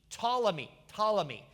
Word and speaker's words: Ptolemy: It's spelled P-T, Ptolemy.